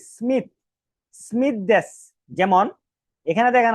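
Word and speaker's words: Smith: কি মাইক মিরা এরকম স্মিথটা এরকম উচ্চারণ হবে যে সুমিসু সুমিসু না বলে কি বলতে হবে স্মিথ স্মিথকে জাপানিজ অক্ষর দিয়ে যদি আমরা এটাকে লিখি তাহলে কি হয়?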